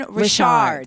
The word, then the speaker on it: Richard: up your name because everyone's been telling me your last name is pronounced differently Rashard that is my name I'm not trying to